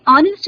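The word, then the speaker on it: honest: यहाँ आप देखें कि ऑनेस्ट जब बोलते हैं तो एच साइलेंट है और स्वर किस तरह सामने आता है? ऑनेस्ट, अ स्वर सामने आ रहा है, इसलिए इसके पहले ए न लगाकर एन लगाएंगे।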